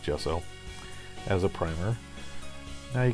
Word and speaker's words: gesso: her Jess I'll make it's pronounced gesso as a primer now